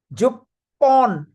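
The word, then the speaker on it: 十本: So but it is going to be pronounced as jupon.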